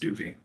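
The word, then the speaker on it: Jacdui: J-A-C-D-U-I, spelled pronounced Doobie.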